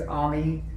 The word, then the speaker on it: Ami: My first name is Ami. It's A-M-I, pronounced kind of like Tommy without the T.